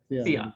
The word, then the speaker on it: Xi'an: How do you pronounce the? Xi'an University. Xi'an, thank you.